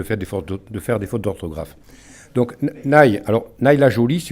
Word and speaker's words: Nay: né dans la manche ça s'écrit anna y aussi dans vous êtes pardonner c'est juste en dessous de la loire les y se prononcent ça nous évite de